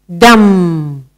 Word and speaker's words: dumb: Our next word in silent B, dumb.